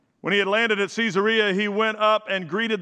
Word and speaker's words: Caesarea: there actually told me the name of the city is caesarea that's how everybody that lives here pronounces it and then i just kind of figured out that if you live somewhere and that's what it is they probably know how to say the name so that's why i say caesarea you ever met anybody